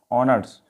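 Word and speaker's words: honour: इसको सबको पढ़ते हैं, ऑनर्स, ऑनर मतलब सम्मान, ठीक है। एच साइलेंट जा रहा है, एच का यूज प्रोनाउंसिएशन में नहीं आ रहा तो हमने एन का यूज किया।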